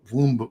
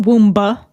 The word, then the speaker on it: womb: womb womb womb womb it's not womba whoa suddenly we're not trying to say it out loud it sounds womb womb does that sound right it's a womb silently it's a silent B you get it it's